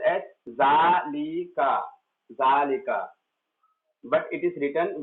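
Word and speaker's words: ذلك: Note, zalika is pronounced as zalika, zalika, but it is written without alif. It is pronounced with alif but written without alif.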